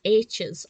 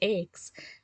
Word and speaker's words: Aches: quite a long time i kept pronouncing this to myself as scrambled h's i don't know why i couldn't get it in my head that it was aches that's irrelevant to my